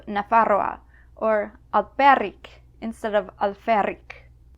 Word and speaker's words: Nafarroa: Now, efe seems pretty straightforward, but you may occasionally see or hear a P in words that contain F. Pralie instead of fraile, or naparroa instead of nafarroa, or alperic instead of alferic.